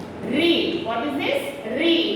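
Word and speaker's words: ऋ: Re, not Ru.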